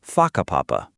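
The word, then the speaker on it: whakapapa: You'll hear locals casually talking about places like haka papapa, pronounced faka papapa.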